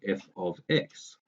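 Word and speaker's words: f(x): f of X and yeah that's how we pronounce it f of X so the ease in which we can do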